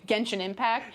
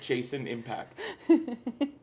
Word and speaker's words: Genshin Impact: Actually, that's when Stella chipped in, and because they couldn't pronounce Genshin Impact, so she kind of took the mic away. Was she helping the host? They kept calling it Jason Impact.